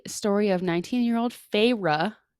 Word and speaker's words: Feyre: of 19 year old feyre i believe is how you say it even though it's spelled like fairy pharah who lives in